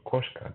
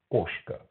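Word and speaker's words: кошка: understand what I'm saying so if something is written koska don't read koska read koshka like I don't know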